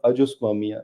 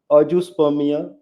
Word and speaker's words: azoospermia: और जी हाँ, जैसे आपको मालूम होगा अजुस्पर्मिया, अजुस्पर्मिया समझते होंगे आप गायत्री?